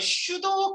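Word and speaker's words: pseudo: 그래서 피는 묵음이고 그냥 슈도 이렇게 불러요.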